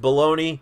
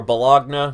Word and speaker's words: Bologna: Herman, Joseph Royce, a whole bunch of you, Vintage Bologna, or Bologna, whichever way you want it pronounced.